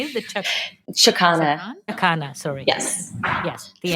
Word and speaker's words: chakana: The two things, the intention bands and the chakan, the Andean cross. Is that how you say it? Chakana.